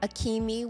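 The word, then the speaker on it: Akemi: on the air uh so I'll say it correctly uh akimi akimi akimi was the correct pronunciation of the princess from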